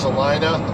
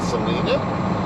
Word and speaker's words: Salina: here this is the loves just east of celina kansas and yes in my other videos i said salina kansas i've since learned it is pronounced celina even though i would still like to call it selena however we are just east of salina kansas